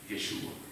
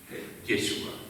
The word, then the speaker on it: Yeshua: De hecho, el hebreo se desprende del arameo y se pronuncia, traducido al arameo, Yeshua. Yeshua.